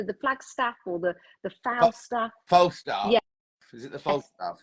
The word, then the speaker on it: Falstaff: I never know how to pronounce it. It's either the Flagstaff or the Falstaff. Falstaff.